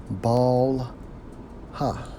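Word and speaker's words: בַּלָּהָה: Strong's age 10 91 pronounced as ball ha okay which means Terror destruction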